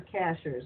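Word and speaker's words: Cashiers: It's Sky Ships Over Cashers, and cashers is spelled just like a cashier at a store.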